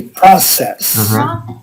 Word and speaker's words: process: or process uh yeah we say process process yeah that this the stress is on the first syllable yes okay process unfortunately